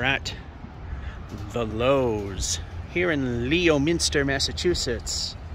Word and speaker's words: Leominster: We are at the Lowe's here in Leominster, Massachusetts. Or Leominster, if you want to pronounce it right, but not be funny about it.